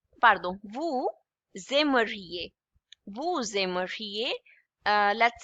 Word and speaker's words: vous aimeriez: It's pronounced as EA. EA. I is pronounced as E and EZ at the end is always A. So with vous, avec vous, it would be again S and A together, it would be pronounced as Z, okay?